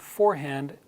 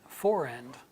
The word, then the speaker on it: forehand: H for hand and British pronunciation the H is often dropped and the R then returns between those because when you drop